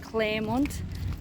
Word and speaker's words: Clermont: for lunch at uh well it's spelt clermont but i've heard people call it claremont um so we're just